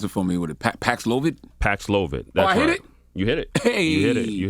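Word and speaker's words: Paxlovid: tell me about this uh kobe 19 antiviral pronounce it for me with a paxlovit paxlovit that hit it you hit you did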